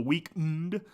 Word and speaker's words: The Weeknd: Can't put the E in there, the E is silent, The Weeknd.